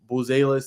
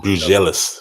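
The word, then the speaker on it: Buzelis: jacobe Walter Ron Holland Donovan Clingan H Mattis buis that's probably overseas nicoa uh say it again how you say it bis with Bellis with G league night G thank you for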